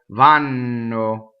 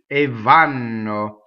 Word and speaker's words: vanno: So they go, vanno. Right, double N. Vvanno.